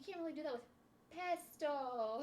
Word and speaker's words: pesto: Should we tell her it's pesto, not pesto?